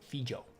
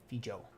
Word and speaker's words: Fejau: Yeah, Fejau. Fejau. I always pronounced it so fucking different in my head.